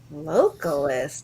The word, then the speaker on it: localist: localist. That's cool. Localist. Yes, rhymes with vocalist.